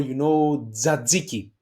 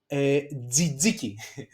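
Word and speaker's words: τζατζίκι: Okay, and the last consonant cluster is tough zeta. Okay, that it gives us like jaki. Jaki is the fireplace. Okay, jaki z, or tzatziki, the sauce that we use basically inside the souvlaki, or tzatziki.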